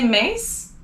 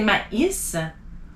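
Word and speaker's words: maïs: the letter i so another example would be my is so you don't want to say mace you want to say ma is or naive so these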